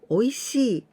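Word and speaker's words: おいしい: This E is for the longer sound of she.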